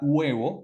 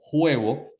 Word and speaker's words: huevo: en el idioma español lo mismo pasa con la palabra huevo que lleva una H que a veces confundimos y pronunciamos la H y decimos juevo o con la palabra